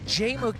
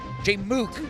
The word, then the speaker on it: Jmook: Jmook not shook. Jmook not shook.